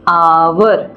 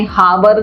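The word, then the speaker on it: hour: है कि cricket silent हो जाएगा इसलिए यहां पर आ जाएगा एन आवर इसलिए हम इसको पढ़ते हावर नहीं पड़ते इसको हो कसम नहीं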